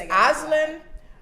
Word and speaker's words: Asline: So it's Asline.